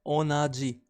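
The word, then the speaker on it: 同じ: we pronounce same or identical as onaji.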